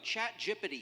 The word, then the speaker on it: ChatGPT: So, little over a year ago, ChatGPT, yes, that's how it's pronounced, burst onto the scene and changed a whole bunch of everything forever.